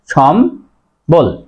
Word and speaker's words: সম্বল: সময় হস চিহ্ন হয় সম বল এবার দেখো এই যে আমরা জানি যে মর সাথে যদি ব ফলা থাকে বর উচ্চারণ বজায় থাকে সে কারণেই সঠিক উচ্চারণ